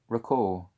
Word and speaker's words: Ricoux: Ricoux. I don't think you pronounce the X at the end of that.